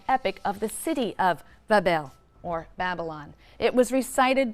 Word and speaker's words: Babel: magnificent Shrine or temple in Babylon pronounced Babel which simply means Gateway